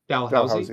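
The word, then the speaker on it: Dalhousie: degree at Texas A&M, a PhD and uh Dalhusi is that the correct pronunciation? Dalhousy.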